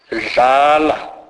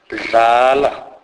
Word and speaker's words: dlala: It is a merging of the normal English D and L sound, e.g. dlala, dlala, which means play.